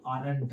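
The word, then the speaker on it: aren't: एमंट बनेगा, जो कि का है? गलत है। एम को अगर हम बनाते हैं तो ये एमंट नहीं होता है, क्या होता है? आरंट होता है।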